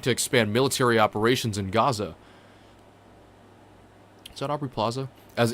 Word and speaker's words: Gaza: So lately I've been hearing some wonderful creators, completely out of respect, attempting to pronounce the word Gaza the same way they've been hearing Arabs and Palestinians pronounce it, which is Gaza.